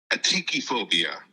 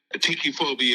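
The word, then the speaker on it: atychiphobia: is definitely a phobia of mine it's called atii phobia and yes I looked up how to pronounce it because I wanted to make sure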